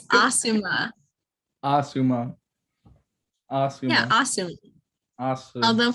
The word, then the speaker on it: Asuma: And then Choji, Shikamaru, and then Asma. No, it's Asuma.